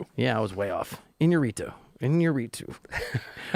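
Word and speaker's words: Iñárritu: Bur Inorito. Yeah, I was way off. Inorito. Inorito. pronunciation.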